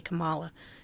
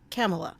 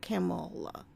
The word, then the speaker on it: Kamala: I want to say Kamala. It seems like that's how it should be pronounced, but it's Kamala, like a camel. Kamala.